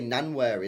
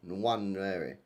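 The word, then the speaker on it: Nwaneri: N I always say Nanwary in it, but is it do you pronounce the W? Nanary. Call him Ethan. One. Oh, is it silent N? Yeah. No way. Is it a silent N?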